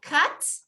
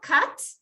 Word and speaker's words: cut: Ok, cut, así con la boca media cerrada, cut.